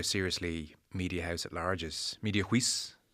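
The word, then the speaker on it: Mediahuis: This is actually one of the benefits from being where I'm from, because it's the one time I pronounce something correctly. It's Media House.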